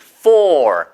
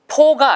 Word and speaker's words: four: 그래서 4개의 four. 보세요. 발음도 fo가 아니고요. 위치아가 아랫입술에 딱 달라붙어서 four gray walls.